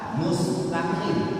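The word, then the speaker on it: مستقيم: Seperti nanti ada lagi qaf dengan kaf, qaf dengan kaf pada mustaqim. Mustaqim. Jadi kalau kita membaca mustaqim yang betul, kalau bukan mustaqim. Ini ada kita jaga kadang-kadang dibacanya mustaqim, kaf dipakai di sini bukan kaf. Ini bacaannya salah, perlu diperbaiki lagi.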